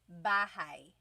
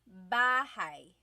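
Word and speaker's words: bahay: Bahai. Try saying that with me. Bahai. Bahai. You might notice that the spelling is a y at the end.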